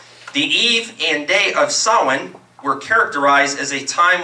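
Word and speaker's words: Samhain: the eve of sin it's actually s a m h a i n pronounced sin as it tells me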